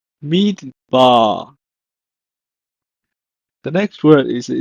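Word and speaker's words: מדבר: In Hebrew, is pronounced as midbar, midbar.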